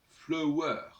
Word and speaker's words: fleur: La fleur devait se prononcer autrefois flower. Et le E de flower, c'est notre E muet, parce que c'est le E qui sert en français dans ce sens-là. Et donc on devait dire flower, puisque le U, c'est